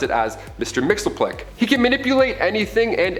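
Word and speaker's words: Mxyzptlk: even translate into earth's languages but we collectively pronounce it as mr mixelplick he can manipulate anything and everything he's nigh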